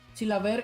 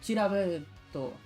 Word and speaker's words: Chilavert: Chilaver in Paraguay does not pronounce the final T, but in Japan it has become Chilaverto.